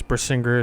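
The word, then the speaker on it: Brisingr: Brissinger is spelled B R I S N G R.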